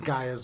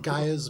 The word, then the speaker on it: Gaia: I don't know, but I would Jade- say, Bubs, with this short period of time passing, it's Gaia's mutagen.